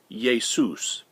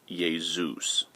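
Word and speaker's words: Ἰησοῦς: In Greek, "Jesus" is pronounced "Iesous." (Please note that it's Iesous, not Iezeus.)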